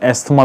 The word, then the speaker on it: asthma: लेकिन जो दमा है, जिसको हम एस्थमा भी कहते हैं या बाज लोग इसको एज़मा कहते हैं, जो अमेरिकन प्रोनाउंसिएशन है, तो एस्थमा जो है ये सांस की एक रिवर्सिबल बीमारी है।